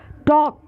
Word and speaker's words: talk: टॉक, TALK, पर इसमें L ध्वनि का उच्चारण नहीं होता।